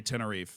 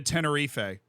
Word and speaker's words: Tenerife: issue is not with actually my issue is with people that say tenie yeah like actually because why like it's not I'm not saying it in Spanish I'm not saying like bamos alif I'm saying like yo we're going to Tenerife you don't have to